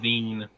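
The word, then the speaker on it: Zein: People have been pronouncing his name as Gene, like with a J, like the pants. I saw it as a Zen, but I mean whatever they pronounce it as. So it's like Ziin, but it's called Zine, and it's like okay.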